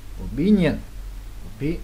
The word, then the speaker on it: opinion: Opinion, opinion, nhấn lần hai luôn.